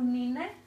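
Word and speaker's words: Neenah: O que a Marlene está a passar agora é o Nina, e Nina escreve N-E-E-N-A-H.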